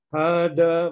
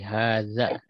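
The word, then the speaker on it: هذا: Ya, untuk membacanya mungkin agak dibedakan dengan huruf dal ya, kan ini za jadi haza. Haza Ya, ya.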